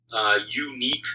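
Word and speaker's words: YouNeek: One that comes to mind is Unique Studios, and that's spelled Y-O-U-N-E-E-K.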